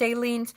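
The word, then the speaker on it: Aleene's: I never say I think this is Ailen's. I think it's pronounced aliens.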